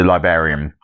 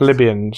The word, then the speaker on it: Libyans: He still is it from the Liberians, however it's pronounced. Libyans. Yeah, Libyans.